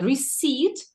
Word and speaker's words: receipt: Receipt, recipe. Okay.